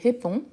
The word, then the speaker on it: réponds: Malgré le fait qu'il y a 3 consonnes à la fin, le N, il agit directement sur les O, mais le DS, je ne prononce jamais.